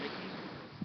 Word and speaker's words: Mickey: Now your name is pronounced Mickey.